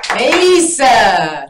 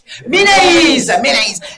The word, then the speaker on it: Meneyce: Et Mélis. C'est bien ça? Je prononce bien? Ménaïs.